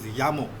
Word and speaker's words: llamo: So this word is pronounced as llamo. Double L A is ya, llamo.